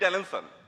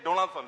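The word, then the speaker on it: Donaldson: তো সবচেয়ে বড় কথা জিমি এই জিমি ডেলেনসন। উনি আসলে ডোনাল্ডসন সরি আমি উচ্চারণটা ভুল করেছি।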